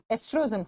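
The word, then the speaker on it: oestrogen: नाम होता है एस्ट्रोजन स्पेलिंग लिखा जाता है ओ से लेकिन प्रोनाउंस करते हैं तो ई से करते हैं एस्ट्रोजन हार्मोन एस्ट्रोजन हार्मोन इसको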